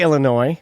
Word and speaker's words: Illinois: do with it yeah illinois or illinois i say illinois yeah so you drop the s but both toronto and